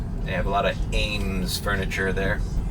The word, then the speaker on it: Eames: They have a lot of Ames furniture there. Some people say Eames. I say Ames.